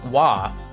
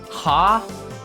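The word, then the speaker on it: は: oh that's a wah it's really it bothers me that um ha is pronounced wa like but I don't know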